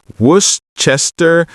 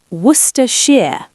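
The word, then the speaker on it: Worcestershire: And Brian, you have a nemesis, a word you cannot pronounce. Worcers source. Oh no, don't make me say it. Worchester. Worers. Worers. See, it's impossible. Who invented that word? It's pronounced worshshire.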